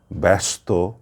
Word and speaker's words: ব্যস্ত: বিষয়টা বুঝতে পেরেছেন যে যদি প্রথম বর্ণের সাথে জ ফলা থাকে তাহলে উচ্চারণ কেমন হয় অর্থাৎ উচ্চারণটি হয়ে যায় আকারান্ত অজফলা আকার এবং প্রথম বর্ণে উচ্চারণের সময় একটু চাপ দিতে হয় একটু শ্বাসের আঘাত করতে হয় তাহলে শব্দটি স্পষ্ট হয়ে ওঠে পরিষ্কার হয়ে ওঠে এবং সেটি প্রবিত বা শুদ্ধ উচ্চারণ হয় আমি শব্দগুলো আবারো বলছি